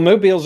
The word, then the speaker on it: Mobile: was modeled do you in Moby or well Mobile's another place and notice I correctly pronounced mobile but Birmingham is high on my